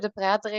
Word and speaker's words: Depraetere: Yeah, my name is indeed a bit difficult to pronounce, Depraetere. It's a very Belgian name, so no worries about that.